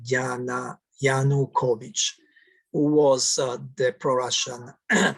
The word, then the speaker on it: Yanukovych: democratic letter parliament of ukraine voted to remove enakovic yana kuvich who was um um a mispronounced gianna yanukovich who was uh the pro-russian president of ukraine